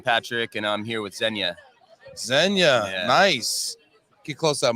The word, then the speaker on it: Zenya: and manage it efficiently so zenya spelled like Kenya with a z that's right yeah z-e-n-y-a all right now it's